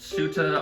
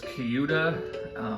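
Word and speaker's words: Ceuta: So I apologize in advance, but I believe it is pronounced Suta. I used to think it was Kyuta, but I looked it up, and I'm pretty sure I'm right in Suta now is the preferred pronunciation.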